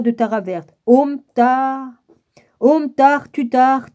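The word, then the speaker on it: Tuttare: Ça s'écrit Om, O-M, plus loin Tar, T-A-R-E, plus loin Tutar, T-U-T-T-A-R-E, après c'est Tur, T-U-R-E, puis après c'est Soha, S-O-H-A, tout en majuscule.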